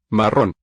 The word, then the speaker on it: marrón: Marrón. The double R letter has a nice long trill on it.